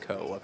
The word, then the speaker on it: Cool: Michael Cole, or Cool, it looks like Cool, but it's pronounced Cole, I'm told.